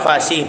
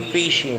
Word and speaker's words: facie: Facie or fishy. Bahala kayo. Prima facie. Si Miriam kasi pronunciation niya fishy.